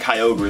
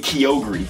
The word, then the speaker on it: Kyogre: I'd have Groudon and Kyogre the proper way to pronounce them they pronounce it rude on and Kyogre e and it's kind of